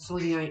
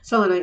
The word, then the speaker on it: selenite: But yeah, and then of course I don't have any salelonite that calls it selenite as I call it, but selonite is the proper pronunciation apparently.